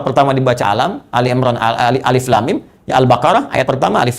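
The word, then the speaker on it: الم: Bagaimana cara bacanya? Ini yang dibaca alif lam mim. Ini yang dibaca alam.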